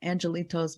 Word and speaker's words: angelitos: And so Angelitos means, you know, like the little ones that were lost. Yeah, it's angelitos, pronounced in Spanish.